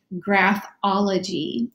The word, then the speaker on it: graphology: Now, when we combine these two, we have to use an O in the middle. This is a connector, and we pronounce it graphology.